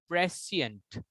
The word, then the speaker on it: prescient: Okay, you know, there are some people, they use double syllable, and some people they use trisyllable, like prescient, prescient, prescient, prescient. This is double syllable. But in British English, most of the people they use three syllable, prescient, prescient.